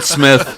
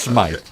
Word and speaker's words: Smite: Smith in is on the control board. Okay. It's Smite. Smite. Smite. Okay. Smite.